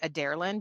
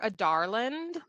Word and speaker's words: Adarlan: as the king of I've heard this pronounced a few different ways, but the way that I have been reading it because this was the consensus of I want to say Adarland because my name is Adara, but that's not the